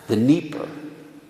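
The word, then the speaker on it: Dnieper: they all saw this it's pronounced uh in it's d-n-i-e-p-e-r the nipper you know the nipper river they describe you know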